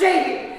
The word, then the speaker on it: Csehy: It is pronounced Csehy.